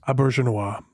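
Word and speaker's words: Auberjonois: I'm starting to like Odo like less and less as the How do you pronounce Rene's last name? Abja.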